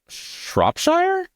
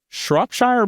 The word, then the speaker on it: Shropshire: a thing another favorite cheese of mine is shopshire Shropshire blue oh pronounced I found Tesco Shropshire yeah Shropshire sorry